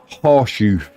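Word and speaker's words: Chorzów: So it says, in English, it's Chorzow in English, but in Polish, it would say it should be horseshoe.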